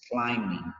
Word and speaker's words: climbing: say this as climbing this is a letter B in this word is silent so meaning you are not going to say that great but the spelling of climbing has the letter B so you have to say that climbing not climbing you should be climbing